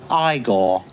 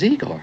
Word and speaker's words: Igor: No, it's pronounced Igore. But they told me it was Eigor.